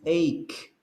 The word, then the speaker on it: ache: to mention something important the pronunciation is ache don't say h don't say headache headache headache ache headache